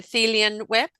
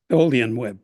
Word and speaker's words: Tholian Web: Star Trekkie, who wrote the, how do you pronounce it? The Thelian Web? Tholian Web.